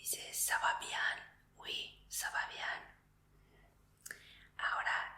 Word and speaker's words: bien: Se escribe igual que en el español, pero se pronuncia bien.